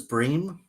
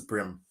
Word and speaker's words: bream: For your um edification, Josh, I've I've looked up the pronunciation of brim, and apparently they're both pronunciations are fine. Um, England now says bream, but Australia still says brim.